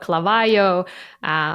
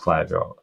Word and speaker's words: Klaviyo: Yeah, people are having hard time with like pronouncing Klaviyo. I heard Klaviyo, Clavayo, what else? Klaviyo, like all kinds of variations. But I mean, it doesn't